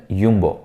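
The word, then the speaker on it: Jumbo: ஆல்டி, Turk, little and யும்போ. என்னங்க ஜம்போன்னு வருது, அதை நான் யும்போன்னு சொல்கிறேன்னு பார்க்குறீங்களா? டச் லாங்குவேஜில் ஜேவை எல்லாருமே யா, அதாவது ஒய் அப்படின்னு தாங்க ப்ரொனவுன்ஸ் பண்ணுவாங்க. ஸோ அது ஜம்போன்னு இருந்தாலுமே யும்போ அப்படின்னு தான் ப்ரொனவுன்ஸ் பண்ணணும். ஸோ இது எல்லாமே பார்த்துக்கிட்டிங்கன்னா எல்லாமே டச் சூப்பர் மார்க்கெட்ஸ் தான்.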